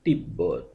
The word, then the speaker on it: তিব্বত: উচ্চারণ স্বাভাবিক থাকে অর্থাৎ ব এর সঙ্গে যদি ব ফলা হিসেবে যুক্ত থাকে সেক্ষেত্রে ব এর উচ্চারণ স্বাভাবিক থাকবে যেমন তিব্বত উচ্চারণ হবে তিব্বত সাব্বাস 90 ঠিক ব